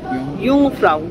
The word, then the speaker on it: Jungfrau: সেই আর কি, ইয়ংফ্রাউ, ইয়ংফ্রাউ কথাটা যেটা উচ্চ থেকে, মানে যে ইউ তো যেটা থাকবে না, মানে উচ্চারণ করার সময় যেটাকে বাদ দিয়ে, হ্যাঁ, ইউ ইউ ইউ